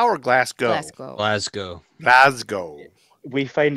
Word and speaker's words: Glasgow: It's Glasgow or Glasgow? Glasgow. Glasgow. Glasgow. We find it very funny when Americans say Glasgow.